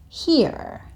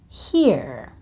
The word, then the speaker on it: here: And the word here. Now, when the Americans say this word, you can really hear the letter R. So they say something like here, here. But when the British and the Australians say it, you can't really hear the letter R.